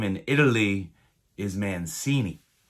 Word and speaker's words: Mancini: has told me my name in italy is mancini not mangini she said it's pronounced mancini and when we came over on the boat